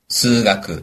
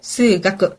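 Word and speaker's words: 数学: 자 그럼 일단 과목을 알아야 대답을 하니까 과목의 발음을 배워 보겠습니다 자 일단 구경수 기본이기 때문에 국어 어떻게 되죠 고고 영어는 에고 수학은 수가 그렇죠 고고 에고 스가 기억해 주시고요 과학으로 넘어가죠 자 물리는 어떻게 될까요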